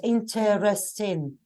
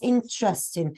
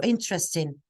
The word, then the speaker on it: interesting: So this E here is silent. It is not interesting. It's interesting.